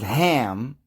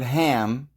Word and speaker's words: Ham: they're talking about because this word ham should probably be pronounced chem now that's also where